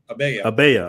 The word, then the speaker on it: abaya: Abaya? Is that how you pronounce it? Abaya? You know what that is? Abaya.